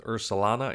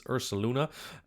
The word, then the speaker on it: Ursaluna: that and Ursa Luna I know some Dutchman uh pronounced at ursulana it's ursuluna and um it doesn't